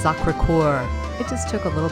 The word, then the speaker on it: Sacré-Cœur: It's Sacré-Cœur.